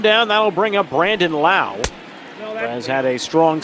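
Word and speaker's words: Brandon Lowe: Same spelling in the last name, Lowe, and they have the potential, or somewhere down the road, to have 3 guys with the same spelling of the last name and 2 different pronunciations, as Brandon Lau strikes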